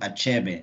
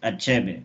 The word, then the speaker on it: Achebe: empowered this guy called Achebe I think that's how we pronounce it it's a-c-h-e-b-e my the way I know African dialects I guess is that it's not something where we hide letters so I know I I